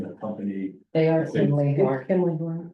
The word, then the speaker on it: Kimley: they are Kimley Horn. Kimley Horn. It's It is. Kimberly Horn.